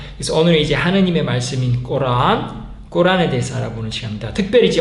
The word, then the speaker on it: 꾸란: 꼬란이 이제 영어 발음을 하면 코란 뭐 이러는데 이제 코란이라는 보다 최대한 아랍어 발음에 가깝게 한국어로 하면 꼬란, 이제 아랍어로 하면 알꼬란 이렇게 하는데요.